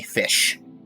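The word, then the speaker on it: GHOTI: G-H-O-T-I, Fish. It's pronounced Fish.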